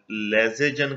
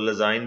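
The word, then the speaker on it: Lassaigne: a compound that does not give a positive test इन लेजेजन कहते हैं, वैसे इसके जो एग्जैक्ट प्रोनाउंसिएशन है तो लजाइन भी पढ़ लेते हैं, लजाइन टेस्ट फॉर नाइट्रोजन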